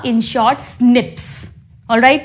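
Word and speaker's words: SNPs: Known as commonly इसे pronounce करते हैं स्निप्स। इसको एसए पीस नहीं बोलते। इसको स्निप्स कहते हैं।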